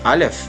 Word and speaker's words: Aleph: De acordo com os mistérios, né, o Aleph, primeira letra do alfabeto hebraico, aqui está, pronuncia-se Aleph, né, foi a primeira letra desenhada por Deus.